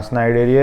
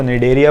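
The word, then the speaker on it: Cnidaria: फिर हाँ स्नाइडेरिया या सीलेंट्रेटा, उसको निडेरिया बोलते हैं, सी साइलेंट होता है, पर याद करने के लिए ठीक है स्नाइडेरिया बोल लो।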